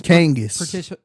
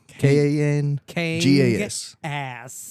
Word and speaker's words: Kangas: It's Kangas. Kangas. Ass. Yep, exactly. Not Kangol, but Kangas. Kangas. Where is that? Like Kansas with the G. It's a that makes more Finnish.